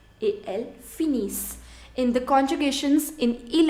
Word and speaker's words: finissent: Nous finissons, vous finissez, ils finissent et elles finissent. In the conjugations in il and en plural, you never pronounce ENT. ENT is never pronounced. So that means you are going to pronounce only till S.